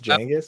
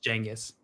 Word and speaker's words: Genghis: Is it pronounced Genghis? From that show? Like with a J? It's Genghis.